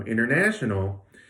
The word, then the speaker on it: international: hear them at all so international looks like this you might think of the stress as falling mainly on the third syllable but you also hear the first so pretty clearly in